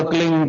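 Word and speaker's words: क्लीं: होता है एक शब्द क्लीन शब्द क आधा ल में मिला हुआ बड़ी की मात्रा और बिंदी उसका उच्चारण होगा क्लिंग ग ग की निकलेगी पीछे आप अंग बोलो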